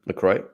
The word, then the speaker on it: LaCroix: just drinking lacroix which we hate that term lacroix and it's the actual way it's supposed to be pronounced according to the company uh my last